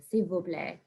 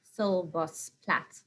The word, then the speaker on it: s'il vous plaît: those lovely manners at the end there, the s'il vous plaît. Exactly. I don't know how, if I had to read that in English, I'd be like, sol vos plat.